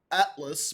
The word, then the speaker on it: ATLVS: There's a band from Gippsland called Atlas, where it's spelled ATLVS, but the A's upside down.